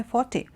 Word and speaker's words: forte: not foot it is Forte that he comes in and it words pronunciation is like this because it's a loanword from French okay Forte now the